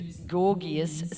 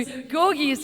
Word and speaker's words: Gorgija: thank you, your Gorgija, gorgeous is the way I remembered how to say it, and indeed you are, by name and nature. Yeah, Gorgija, you're Gorgija, and this